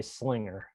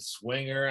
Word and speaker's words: Slinger: He said, I know, I said swinger. I'm so embarrassed. He goes, yeah, I know how it's pronounced now.